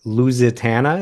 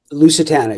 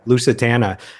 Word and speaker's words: Lucatana: Boneyard Tree, Wiser, All Uncovered, and Lusatana. Is that how you pronounce it? Lucatana. Yeah, Lucatana.